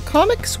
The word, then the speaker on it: ComicX: The ComicX website, and yes, that is how it's pronounced, promises magic, fun, and great food.